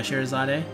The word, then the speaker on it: Scheherazade: Yeah, Scheherazade. The way I remember to pronounce her name is that she's in the song by Genie in Aladdin. Scheherazade had 1,000 tails.